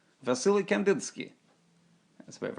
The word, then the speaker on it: Wassily: I think it's Vasily because in Eastern European languages a W is a V, so it's like Vasily Kandinsky.